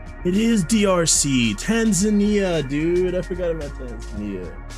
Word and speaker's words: Tanzania: Tanzania, dude. I forgot about Tanzania or Tanzania. I'm sorry. It's actually pronounced Tanzania.